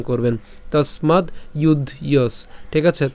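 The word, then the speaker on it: যুধ্যস্ব: এগুলো যদিও ভেঙেছি কিন্তু উচ্চারণ করার সময় একসাথে উচ্চারণ করবেন তসমাদ ইউয়স ঠিক আছে তসমাদ ইউস এরপরে এখানে কি আছে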